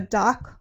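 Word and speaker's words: DOK: The DOC library in the Netherlands, it's spelled D-O-K, they've done amazing things with the Microsoft Touch Surface.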